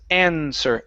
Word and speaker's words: answer: So here instead of saying answer, the W is silent. The word is answer.